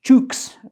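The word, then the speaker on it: Cheux: The Yeomanry's guns first fired in support of the attack on the village of Sheux, pronounced Chooks by the yeomen, a bloody and confusing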